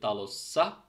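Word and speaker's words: talossa: ফিনিশে আমরা বলি তালোসা সো আমরা যদি এটাকে খেয়াল করি যে তালো শব্দটা শেষ হয়েছে মূলত ও দিয়ে মানে ব্যাক বাউল দিয়ে তো যখন এটার সাথে এস এস এন্ডিং টা যুক্ত হচ্ছে তখন এই টা নরমালি ব্যাক বাউলের এইটা হবে ঠিক আছে সেম এই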